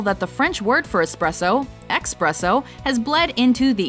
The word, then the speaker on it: espresso: supposedly number two espresso common mispronunciation expresso correct pronunciation espresso when you're thinking about